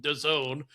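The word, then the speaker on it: DAZN: And yeah, for me the NFL Game Pass International, which is hosted on Don, D A ZN, which is somehow pronounced Done, which okay, fair enough.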